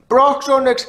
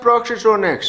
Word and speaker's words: Brock's Onyx: Why the hell did you wait until now to correct him that it's Brock's Onyx and not Brox's Onyx?